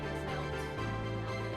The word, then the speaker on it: knelt: If it's a K from an N, it's knelt.